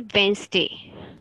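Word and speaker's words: Wednesday: ए वेडनेसडे ने है इसको गुड वाले इंग्लिश में बोलते हैं वेनसडे व्हेन ई कैप्सूल यह साइलेंट-साइलेंट इकट्ठी की बहुत ही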